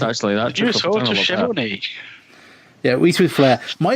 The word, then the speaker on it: Schiavone: I think I'm sure it's Bobo or Gordo, but they say Tony Schiavone like it rhymes. That's probably Gordo. Yeah. Schiavone Mahoney.